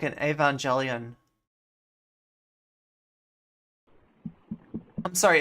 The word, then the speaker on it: Evangelion: control it like an Evangelion I'm sorry is it Evangelion I think it's Evangelion I always want to say it like evangelist you can hear that like